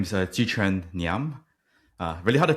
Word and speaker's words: Jiquan Ngiam: Um my name is Chih-Chen Nyam. Uh really hard to pronounce, so I go by usually.